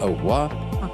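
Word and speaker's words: au revoir: ओहुआ लिखा जाता है और रिवा बट प्रोनाउंस में बोलते हैं ओहुआ का शब्द अर्थ है जब तक आप फिर नहीं दिखते।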